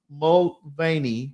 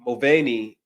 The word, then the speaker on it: Mulvaney: I don't know how to pronounce her last name. How do you say that, man? Mulvaney. Mulvaney over Olympic athlete.